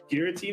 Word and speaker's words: Giratina: You like, how do you pronounce it? Is it Giratina or Giratina?